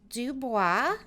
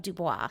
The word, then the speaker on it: Dubois: So the last name is Dubois.